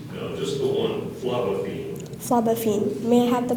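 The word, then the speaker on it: phlobaphene: medicine as an astringent are there any alternate pronunciations no just the one flavine flavine may I have the part of speech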